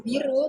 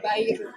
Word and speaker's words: Bairu: Jadi bacanya itu bukan biru, tetapi Bairu. Bairu Kreatif.